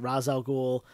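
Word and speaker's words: Ra's al Ghul: uh Christopher Nolan movies they were pronouncing it Raz Al ghoul so I think the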